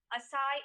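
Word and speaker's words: açaí: pronunciation of the given word that is right assai is the right pronunciation of the given word novel please note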